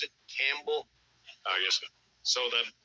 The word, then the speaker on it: Campbell: way you pronounce it Campbell oh yes so the the p is silent like the K and